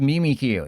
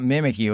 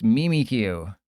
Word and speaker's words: Mimikyu: Yeah, it's pronounced Mimikyu. It's not Mimikyu. It's Mimikyu, according to their official thingy thing.